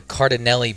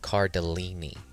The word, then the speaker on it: Cardellini: While I agree with Dan's statement about Linda Cardinelli being delicious, it would be nice if he actually pronounced her last name correctly. It's pronounced Cardellini.